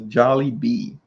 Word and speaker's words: Jollibee: that phonetically in there is it jolly bee or jollibee because adam wants to eat there and he's not gonna know how to pronounce it if he's listening to my the way i'm saying it okay loki loki says yes jolly kevin even says jolly bee kevin y'all got those